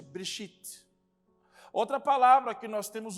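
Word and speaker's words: בְּרֵאשִׁית: Nós percebemos que existe um E bem pequeno, que é exatamente o Shivá, e ele não aparece na pronúncia, Bereshit.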